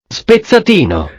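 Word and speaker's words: spezzatino: way to say it is that the right way to say it hang on how do you say it okay is that that's how you say a beef spitzadino so i have that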